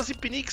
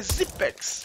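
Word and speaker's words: Xyp9x: o nome dele é todo mundo fala Zip Nix Zip Nix Mas uma vez uma entrevista a um repórter ele falou que o o nome correto a pronúncia correta é zex então a gente aí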